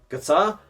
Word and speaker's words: Qatar: Qatar. That's how you actually pronounce it. Qatar, a lot of people are calling it, but Qatar is how you pronounce it.